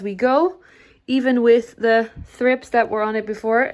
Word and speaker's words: thrips: thrips on this one did you know it's actually thrips for both a group and just the one one thrips i always say it